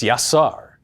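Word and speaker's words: יָצַר: living being the Hebrew verb to form is pronounced yasar is the same verb used in the Bible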